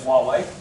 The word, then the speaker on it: Huawei: and Honour, and that's the right way of pronouncing Huawei actually, so it is Huawei.